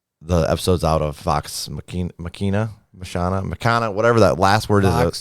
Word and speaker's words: Machina: And then other than that, I finished the episodes out of Vox Machina, whatever that last word Vox is. Machina.